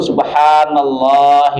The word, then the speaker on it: Subhanallah: Dua kalimat itu subhanallahi wabihamdih. Subhanallahil adzim. Yang benar Pak ya ngucapinnya Pak ya. Antum sudah ngaji bukan subhana, subhanallah, subha enggak. Bukan subha subha ya. Subhanallah ya.